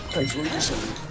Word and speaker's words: Typhlosion: It's like Explosion, the way I try to pronounce it. Typhlosion or something like that. Right, yeah. Explosion. Yeah, Typhlosion.